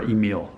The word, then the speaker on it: Emil: Here's what Emil Brink said. Or Emil, I pronounced that wrong, Emil Brink.